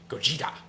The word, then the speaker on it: Gogeta: Then Matt said, say Gogeta without a pause between the syllables and with emphasis on Jita. Gogeta!